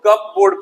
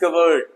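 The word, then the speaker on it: cupboard: अब बहुत सारे बच्चे इसको कप बोर्ड पढ़ेंगे, है ना? कप बोर्ड नहीं है, इट्स कबर्ड।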